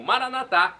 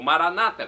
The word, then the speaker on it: Maranata: E agora do aramaico eu clamo, Maranatá, como dizemos nós católicos, ou Maranata, como dizem nossos irmãos separados, os evangélicos ou protestantes. Não importa a pronúncia, o significado é o mesmo. Vinde, Senhor Jesus, um dia ele voltará.